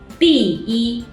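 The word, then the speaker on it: 第一: In words containing the character 一, when 一 is at the end of the word or it's just used alone as a character, its tone doesn't change. For example, 一, 第一, 星期一, 11.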